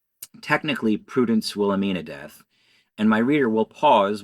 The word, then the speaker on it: Deth: technically prudence will amina death and my reader will pause while i quickly address the potential listeners from this ever being audiobook to note that it is spelled d-e-t-h without an a readers please rejoin us